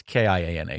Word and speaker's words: Kiana: I don't know how are they saying it but it's K I A N A so I think it's Kiana and it you